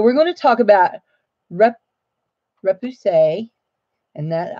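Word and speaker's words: repoussé: going to talk about RUP RUP to say and that I listen to the Google how you say it thing rip to say and we're going to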